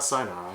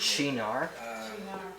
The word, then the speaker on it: Cynar: It's not Sinar. I'm pretty sure it's Chinar.